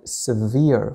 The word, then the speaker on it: sever: لاحظوا جيدا نطق هذه الكلمة, severe, شديد, قاسٍ, severe, لكن هنا عندما استخدمت تقريبا نفس الكلمة كفعل نطقناها sever, سأكتبها هنا كفعل, I sever something, أفصل شيئا, sever, لكن الأدجكتيف يكتب بهذه الطريقة وينطق severe floods, فيضانات شديدة, الفيضانات قطعت الطريق, the floods severed the road, هنا severed, هنا severe, sever, severe, sever, severe, هناك فرق في النطق.